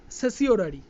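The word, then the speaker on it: certiorari: এটাকে এটা বললাম, এটা আমাদের ল্যাটিন ল্যাঙ্গুয়েজ যে স্পেলিংটা হয়, যে উচ্চারণটা, সেটা হচ্ছে সেসিওরারি, ঠিক আছে। আমরা কি বলবো, আমরা বাঙালি ল্যাটিনটাকে বাঙালি এবং ইংরাজি মিশিয়ে কি বলবো, সার্টিওরারি, কিন্তু এর অ্যাকচুয়ালি স্পেলিং সেসিওরারি।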